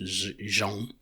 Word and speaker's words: zoo: In English it's pronounced zoo, but in our language it's pronounced zhong.